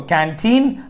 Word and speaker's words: canteen: division occurs here okay so canteen and this is the since this is how we mark the uh you know the the stress syllable and so teen is